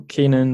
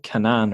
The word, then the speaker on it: Canaan: have on the show Kanan Morse oh I always do this is that a correct pronunciation of your name that is the correct pronunciation yes I was pretty sure